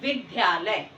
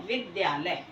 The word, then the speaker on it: विद्यालय: विद्यालय में करते हैं कई बार मैंने देखा है कि विद्यार्थी इस द्या को धा बोलते हैं और बोलते हैं विद्यालय जबक सही उच्चारण होता है विद्यालय यह द्या जो है द प्लस या से मिलकर के बना है तो ये बराबर व्या